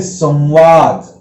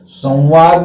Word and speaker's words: संवाद: संवाद में नासिका से तो आवाज निकल रही है, लेकिन ऐसा लग रहा है जैसे संवाद में और आधा व एक और मिला हुआ है, संवाद। तो अगर ये से ऐसे बिंदी हटा दो तो ये रहेगा सवाद, लेकिन बिंदी का उच्चारण करेंगे नाक से तो संवाद होगा, लेकिन ये संवाद हम बोलते हैं तो यहाँ एक और व का उच्चारण हो रहा है, इसलिए संवाद आवाज निकलती है।